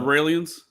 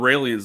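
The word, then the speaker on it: Raëlians: is the israelian no they're called raans it's just take off the is from israelian isra well no no I think they spell it similar R AE l i ns raans I think I know yeah it's it's raw L there you go raw L yeah yeah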